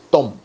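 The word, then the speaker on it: תם: letras del alefato hebreo la letra taf y la letra mem taf y men se lee Tom Tom sí Tom y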